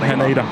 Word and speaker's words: Haneda: It's Haneda, not Haneda. Not Haneda, Haneda.